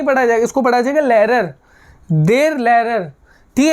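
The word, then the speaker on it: Lehrer: सर को हम German में कहते हैं देर लेरर there लेरर H silent हो जाएगा इसको क्या पढ़ा जाएगा लेरर नहीं पढ़ा जाएगा इसको पढ़ा जाएगा लेरर देर लेरर ठीक है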